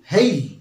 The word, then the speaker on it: hail: প্রথম শব্দটি হলো HAIL হেইল, উচ্চারণটা লক্ষ্য রাখবে, HAIL হেইল।